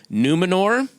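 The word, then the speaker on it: Númenor: the island kingdom of numenor well pronounced r on the end numenor numenor i don't want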